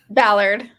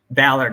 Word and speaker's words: Ballard: your last name Ballard Ballard Ballard okay like I'm like malard the Ballard yeah exactly cool I'm